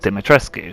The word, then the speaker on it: Dimitrescu: neither spelled dimitra's not domitress it's actually about dimitrescu hence why a lot of people pronounce it that way but i'm completely waffling